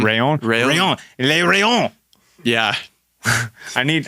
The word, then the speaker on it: Rallon: We've covered everything from events to athlete mentalities and that new Orbea Rallon. It's going to be pretty sick to see. I said it wrong. Orbea Rayon.